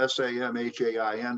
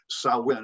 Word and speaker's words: Samhain: It is spelled S-A-M-H-A-I-N, but it's pronounced Samhain, S-O-W or S-A-W hyphen W-I-N, Samhain or Samhain.